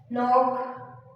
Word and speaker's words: knock: But the every word K is silent. No, knock, knee, and knife.